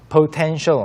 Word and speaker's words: potential: 발음이 여기 이제 뭐 petrol도 있었고 potential도 약간 potential 하지 않고 potential, Potential. potential. Potential. P가 약간 자고 있어요.